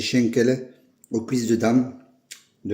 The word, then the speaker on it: Schankala: Donc voilà la recette des chen en alsacien ou chancala, ça s'écritala mais ça se dit chenelin aux cuisses de dame de la brioche Pascal.